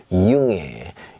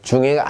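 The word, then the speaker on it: Junge: 이융애, 이융애 이렇게 읽어주시면 돼요. 자, 중애가 아니라는 거죠.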